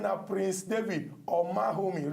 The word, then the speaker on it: Omaghomi: His name now Prince David Omahomi. Remember, the G is silent.